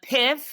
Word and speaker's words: PYFF: So PIF is how I pronounce it. It stands for Pay Your Friends First.